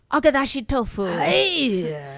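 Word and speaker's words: agedashi tofu: And now, once again, it's time for Maureen Flanagan and the Vegan Teas, a fabulous recipe today, even though I can't pronounce it. Agadashi tofu.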